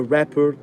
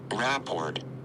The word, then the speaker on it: rapport: traffic ticket establishing a rapper is very important I feel like I'm saying it wrong hold on a second report or rapport that's what I said Rapport okay sometimes a report